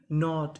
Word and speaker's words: knot: KNOT नॉट, इसे क्या पढ़ेंगे हम लोग?